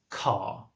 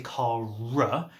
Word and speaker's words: car: So, for example, if you look at a word like car, okay? It ends in an R with the spelling, but actually we don't pronounce the R. We don't say car, and obviously I'm talking British English here.